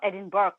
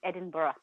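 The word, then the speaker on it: Edinburgh: is different so it's edinb so it's not edin Burg the way it's spelled it's Edinburough there's quite a few uh places for example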